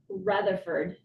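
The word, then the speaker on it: Retherford: Uh, Laura Ratherford.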